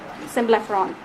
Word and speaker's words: symblepharon: How do you pronounce that again? Symblepharon, Symblepharon. Symblepharon.